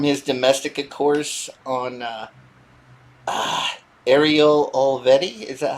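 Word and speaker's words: Olivetti: Oh man, it sucks because from his Domestica course on Ariel Olvetti. Is that how you say it? Olvetti, yeah.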